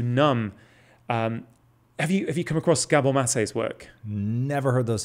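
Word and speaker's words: Gabor Maté: Have you come across Gabor Mate's work? Never heard those syllables put together before. You would absolutely love Gabor Mate.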